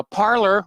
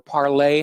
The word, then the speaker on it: Parler: Now, Parler, or Parlay, however you want to pronounce it, has filed a lawsuit against Amazon over the ban from the Amazon Web Service servers.